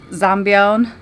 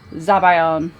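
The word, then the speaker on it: zabaione: Zabayone. Zabayone. Okay, that's a classic case of getting some vowels mixed up.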